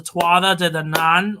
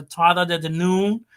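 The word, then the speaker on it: Tuatha Dé Danann: the story of the Twala to the nun or Tata to the noon or I mean there's different ways to pronounce it I try not to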